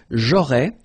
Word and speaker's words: aurais: J'aurais, so final S, not pronounced. J'aurais, then same thing here. Tu aurais, you don't pronounce the final S.